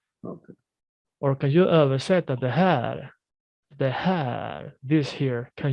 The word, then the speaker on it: det här: As I said here, we take away the T. We omit the T. So we say det här. Det här. Right. So we drag this one here. The R oftentimes is very, very, light.